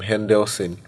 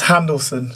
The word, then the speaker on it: Handelson: Yeah, and is this your nickname, Hendelson? Yeah. Where did that come I get from? the pronunciation correct? It's Handelson. Handelson.